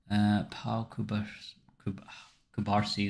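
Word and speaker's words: Pau Cubarsí: Pau Kubarsi, that's how you say it.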